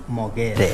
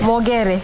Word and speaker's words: Mogere: Niyo pronounce ya mwisho vizuri? Mogere. Mogere.